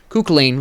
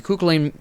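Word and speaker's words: Kukulkan: __ ] lane built kooklain let me pronounce his name correctly kukulen built no penetration horus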